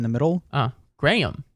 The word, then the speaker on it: Graham: name differently there so I say my name Graham uh sort of like a gram of cracker or cocaine yes and they say Graham okay so it's just slightly different it's a little higher in the middle uh Graham